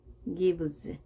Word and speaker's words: gives: 자, 이렇게 유성화된 단어 뒤에는 같은 자, s가 z로 발음이 됩니다.